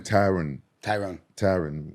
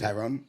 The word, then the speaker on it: Tyron: Tyrone Woodley. I just watched the Tyrone Woodley episode one His time. name Tyron Woodley. Tyrone?